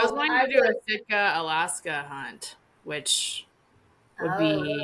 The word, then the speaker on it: Sitka: That's how I say it, Sitka.